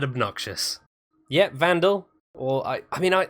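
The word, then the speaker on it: Vanduul: got to use so I like to think of it as Vandal yeah but people say banged out almost yeah it's gonna be shortened to vandal like like a you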